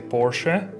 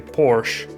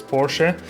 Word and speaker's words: Porsche: Porsche review and BS in German is a Porsche but in English some people say Porsche so the correct pronunciation is Porsche but this is not video about the pronunciation